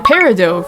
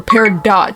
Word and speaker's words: Peridot: is none other than Peridot from Cucumber Quest by GGDG. Yes, that is the canonical pronunciation of her name. Do not call her Peridot, she will sue you!